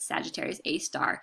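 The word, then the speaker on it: Sagittarius A*: arias a star that's how you say it Sagittarius a star is a radio source of the center of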